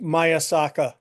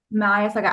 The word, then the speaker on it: Mayaka: for me again yes it's pronounced mayaka mayaka I knew I buter